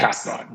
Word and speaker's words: Castellan: Have I pronounced that correctly? Castellan, yep, Castellan.